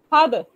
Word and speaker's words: father: a word father father its pronunciation is what father R is absent so which syllable is